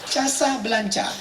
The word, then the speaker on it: Casablanca: Casablanca. Cara membacanya Casablanca.